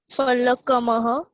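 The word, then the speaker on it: फलकम्: वातायनम फलकमः फलकम। कमह, ह नहीं चाहिए। Okay We don't need her. Whenever we have that two dots ना, तभी ही हम ह बोलेंगे, otherwise नहीं बोलना है।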